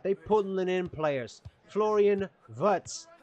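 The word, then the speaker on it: Wirtz: pulling in players Florian vets I'm pretty sure he's German and I know that W is pronounced as a v beautiful player with great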